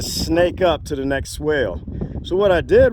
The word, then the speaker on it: swale: They're not actually pronounced swales in Australia. They're swales. And I'm fine doing swales or swells. Both of them work.